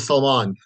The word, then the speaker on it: Salman: No worries, it's Salman.